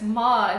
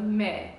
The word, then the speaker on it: Melike: the first syllable so they call me mik instead of M so it's it's ma instead of me so if you want